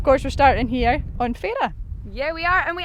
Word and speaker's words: Fara: But of course we're starting here on Fay-ra.